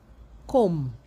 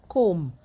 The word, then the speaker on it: comb: You do not pronounce the B. The B becomes silent. So, you have climb, bomb, thumb, dumb, comb, lamb, numb, and crumb.